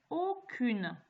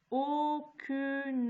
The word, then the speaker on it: aucune: Aucune. Aucune. Attention, c'est le O intermédiaire, c'est pas le O de soleil.